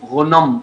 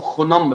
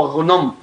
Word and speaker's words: غنم: اسمه غنم. الأجانب بنطقوه خنم بالخاء، لكن هو غنم.